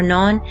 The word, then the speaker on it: non: English word we and non is pronounced like the English word no but with a nazle